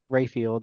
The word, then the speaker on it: Raphael: Um so our guest judge today is Miss June Diane Rayfield Rayfield even though it spelled like Raphael.